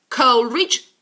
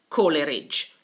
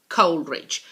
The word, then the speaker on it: Coleridge: worst Wordsworth and Samuel Taylor Coleridge Coleridge not call erage Coleridge the two of them